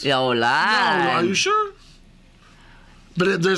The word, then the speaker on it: Hollande: Starts with an H, unpronounced. And it's the same name as same name as a country. Hollande? Hollande.